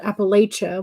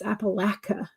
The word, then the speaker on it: Appalachia: It's like one person said Appalachia, which is close, but and then the other one was like, "What are you talking about? It's Appalachia."